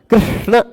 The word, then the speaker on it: कृष्ण: लोक में ऐसा होता ऋ बोलना है लेकिन र बोल जाते हैं कृष्ण कृष्ण अब इसमें कृष्ण